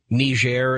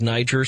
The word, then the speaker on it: Niger: Well, I'm having one of those moments where it was like the first day that everybody else on the planet started saying Niger instead of Niger.